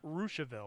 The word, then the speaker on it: Russiaville: which is in russiaville it's spelled russiaville but i've been told it's pronounced rooshville i've heard that too